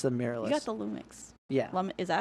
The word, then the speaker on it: Lumix: You got the Lumix. Yeah. Is that how you say it? Lumix.